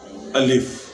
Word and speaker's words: الف: پہ رکھا جاتا ہے۔ ترکوں میں بھی الف کے نام سے ہے، تو وہ تلفظ ان کا تھوڑا سا مختلف ہے، الف کو الف کہتے ہیں، تو ان میں بھی